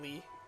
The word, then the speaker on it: Lea: Lee. Lee. 'Cause he's in this I game. forgot about that. Axel's in this game. Yeah, Josh, it's not Leah, it's spelled- Lee. Princess spelled Leia. L-E-A.